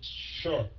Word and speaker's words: should: Why should I hire you? Không phải shoot tờ nha.